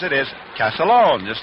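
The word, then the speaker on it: Castiglione: one but the way he says the family pronounced it is calone just like uh o c AA l o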